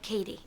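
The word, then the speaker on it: Cady: really hope you're embarrassed it's pronounced like Katie I have a nephew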